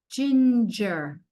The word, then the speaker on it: ginger: Lien buys ginger. Ginger. This is a G followed by an I. So it's J. J in. This is a G followed by an E. So it's also J.